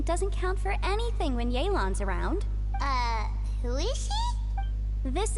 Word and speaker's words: Yelan: Ah, I thought Her name's pronounced here. Yelan, but I'm gonna say Yellen by accident a million times.